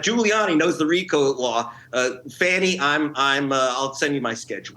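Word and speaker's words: Fani: Fanny, I'll send you my schedule. I think she pronounces it fawny, like the baby deer.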